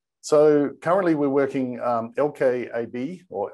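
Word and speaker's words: LKAB: currently we're working um lk ab or elkowabi as it's pronounced locally is um that's actually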